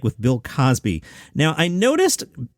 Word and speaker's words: Cosby: The Gay City News said, what was your interaction like with Bill Cosby? Now, I noticed Gilbert would always say Cosby, like rhyming with Crosby, Bing Crosby, Bill Cosby.